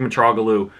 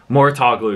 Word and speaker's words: Mouratoglou: matter as well with the helps of Patrick mature oglu Mouratoglou excuse me I still have trouble pronouncing his name with Patrick Mouratoglou at her